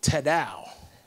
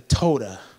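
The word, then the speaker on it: תודה: Tao de toda and the last service I said that Ted ow and I said it wrong but the toda everybody say tota it means to extend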